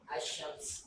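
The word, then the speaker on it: الشمس: अब्दुल रहमान तैयार पढ़ो अशम्स अशम्स लाम नहीं पढ़ा क्यों क्योंकि हक्का हो जब हम नहीं है माशा्लाह ले जी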